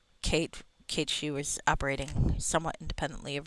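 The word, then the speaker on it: Cait Sith: And I will pronounce it Kate Shi, even though I think in Rebirth or something they call him Kate Sith. And and that's fine. I mean, people pronounce things the way they're gonna. But it is like a figure in folklore, so it should be Kate Shi.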